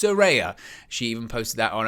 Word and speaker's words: Saraya: make sure that I pronounce it correctly it's pronounced suraya she even posted that on her social media